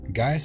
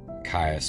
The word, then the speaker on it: Gaius: Now, Gaius Mancinus, Caius or Gaius, you know, it's spelled with a C, but that could be pronounced G, but I'm going to call him Caius Mancinus.